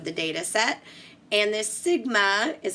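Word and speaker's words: Σ: the mean of the data set and this Sigma is how it's pronounced what it really represents for what we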